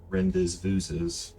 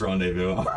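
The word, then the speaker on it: rendezvous: Cyrus, you gain consciousness, your vision back in the morning after you and Maverick's first little Rendes vooes. I know it's pronounced rendevu.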